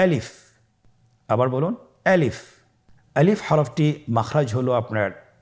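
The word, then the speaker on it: ألف: বলতে হবে বলুন আলিফ আলিফে কিন্তু কোন টান নেই আপনারা বুঝতে পারতেছেন আমি যখন আলিফ বলছি এর মধ্যে কোন টান হবে না। আলিফ আবার বলুন আলিফ।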